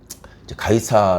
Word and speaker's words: 가이사: 있습니다 가이사 아구스 돋아 가이사 라는 말은 뭐 영어식 발음으로 가면 씨저 라고도 하고 아아 9 수도는 이